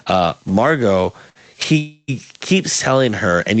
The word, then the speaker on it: Margot: my brain was like you need to pronounce the T in that uh Margot he keeps telling her